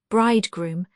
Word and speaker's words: bridegroom: Murdoch said 552 bridegroom here accented on the second syllable. In 682 below it has the ordinary accent 555 scapes.